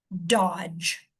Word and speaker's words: dodge: D G on the end says j. It comes after a short vowel, so this is going to be aw. d aw j dodge.